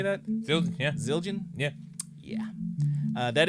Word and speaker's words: Zildjian: Yes, the Zildjians. Is that how you say that? Zildjian, yeah.